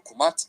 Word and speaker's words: Kemet: the fertile black soil around the Nile River, pronounced as Kemet or Kumat in ancient Egyptian.